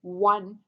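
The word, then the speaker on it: one: लेकिन अगर आप इसको प्रोनाउंस करते हैं वन, तो ये डब्ल्यू की साउंड दे रहा है, एंड डब्ल्यू इज a consonant sound.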